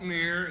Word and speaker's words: boutonniere: How about- Boutonniere, as we say in the Midwest, or boutonniere, however you want to pronounce it.